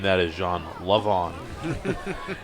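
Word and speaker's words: Le'Von: Levon. It's spelled love, apostrophe on.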